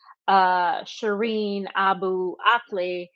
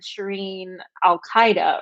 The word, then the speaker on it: Shireen Abu Akleh: to bring justice to Shireen Abu Akleh, he didn't say her name right, and it sounded like he said Shireen Al Qaeda or something.